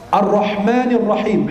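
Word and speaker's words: الرحمن الرحيم: Ar-Rahmanir Rahim, haknya juga diperjelas.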